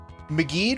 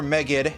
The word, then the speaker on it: Megid: Now, Meged or Megged, depending on how you pronounce it. I'm going to try to go with McGee as much as possible. I'm used to calling it Megged because of being around people who called it Megged when I was younger,